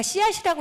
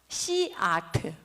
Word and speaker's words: 씨아트: 제가 씨앗이라고 읽었는데 사실은 씨아트예요.